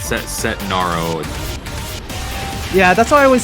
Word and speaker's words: Setnaro: like a a tough name for me to pronounce set set Naro yeah that's why I always say just call